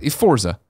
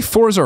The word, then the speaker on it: Forza: here Forza do you say Forza or fortza I say fortza where's the tea come in I've never understood this not fortza yeah fort Forza there you go really yeah I still see here at T you say it again Forza I hear the te Forza Motorsports 7 and